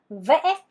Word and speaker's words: vẽ: 다음 은 've' 인데 , 그 위 에 물 결표 가 있습니다 . 이것 은 ' 브이 - 이 ' 발음 유형 의 톤 입니다 . 'Vẽ', 'vẽ', ' vẽ'— 아이